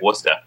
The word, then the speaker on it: Worcester: is learning all these names being able to pronounce things like wora you know I went out to W it